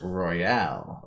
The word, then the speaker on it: Royale: It's actually pronounced Royale Rebel, and it's Rebel spelled with two L's, so it's almost like Bell with R-E before it.